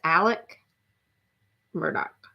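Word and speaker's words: Alex Murdaugh: lot about Alex Murdock spelled like murder spelled like Alex but it's Alec Murdoch spoiled probably by all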